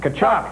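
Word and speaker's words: Tkachuk: Taychuk say like Kachchuck and Doy, but you think you were a dummy the way you know that.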